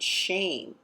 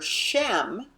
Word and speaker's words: Shem: honor Authority character and notice how they pronounce it shame right and of course in this is coming you know from Gentile translations in terms of pronunciation so shame is something